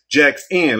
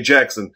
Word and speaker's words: Jaxn: life of Derek Jackson yes Jackson let me say it right because I used to say Jackson but it's sad that